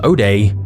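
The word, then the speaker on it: zero-day: buying and selling of zeroday exploits. Which raises our first question. What the hell is that? A zero day, sometimes pronounced oday, is essentially a flaw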